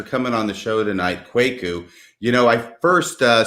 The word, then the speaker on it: Kwaku: always just tell people think of like a quaker like quaker oats but instead of earth